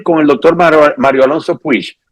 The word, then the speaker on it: Puig: el doctor Mario Alonso Puig. Nosotros acá decimos Puig, pero allá se pronuncia Puig. En España. Aquí se pronuncia Puig porque es de origen catalán.